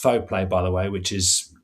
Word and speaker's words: Fauxplay: And then, I mean, latterly the Fauxplay moniker is pronounced Fauxplay, by the way, which is a bit of a weird pronunciation.